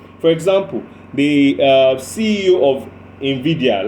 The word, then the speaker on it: Nvidia: For example, the CEO of Nvidia, like Vidya, yes, but it's spelled Nvidia.